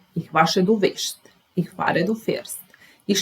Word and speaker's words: wäschst: and third person singular we have this A with two dots, A with two dots, and we pronounce it as E. Ich wasche, du wäschst.